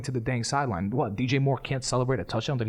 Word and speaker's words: DJ Moore: take off his helmet DJ Moore oh my God I always get his name wrong and I always say AJ Moore yeah I don't know